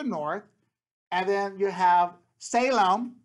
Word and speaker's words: Salem: So the temple area is further north, and then you have Salem, or Shalem is the correct way of pronouncing it.